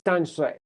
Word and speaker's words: Danshui: So right now, the name on the MRT for this place, in Chinese, it's Danshui, or in Mandarin, it's Danshui.